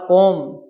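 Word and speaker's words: comb: बहुवचन नाइन है आर कोम कोम मान क्या होता है अभ कंगा एम और बी कभी साथ आए तो बी हमेशा ही साइलेंट लेटर रहता है कम कोम मन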